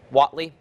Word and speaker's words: Hatley: Is that the best way to pronounce that, John? W-H-A-T-L-E-Y? Waitley? Hatley.